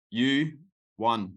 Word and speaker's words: Yohan: you man all right it's pronounced you one like the trophy like you won that you won I like that yeah